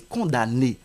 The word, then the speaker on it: condamné: dans le verbe condamn on ne va pas lire la lettre M pour dire condamné non c'est condamné c'est de même par